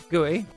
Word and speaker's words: GUI: How do you say gooey? Gooey. I do not say I don't think I've ever called it GUI. I say gooey.